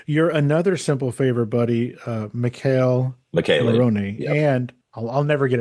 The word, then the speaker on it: Michele Morrone: Oh, that's not my fault. It's spelled Michelle. Oh, I know exactly. You're not Italian. Michele Morrone.